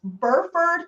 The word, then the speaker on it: Burford: And then I think it's pronounced Burford Capital, but it's BURFORD.